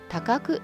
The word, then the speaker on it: 高来: また、呼び名がなぜ高麗ではなく高久という読み方になったのか。